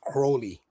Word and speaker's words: Crowley: Crowley, which he mispronounces Crowley. It's pronounced Crowley, but he pronounces Mr.